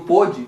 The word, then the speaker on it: pôde: Então, esse pode e pôde, o pode não vai o acento agudo, mas se pronuncia pode, o O aberto. E o pôde se pronuncia o O fechado.